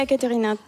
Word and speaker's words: Ekaterina: Bonjour Ekaterina. Bonjour Sébastien. C'est bien comme ça qu'on prononce ? Si, très bien Ekaterina.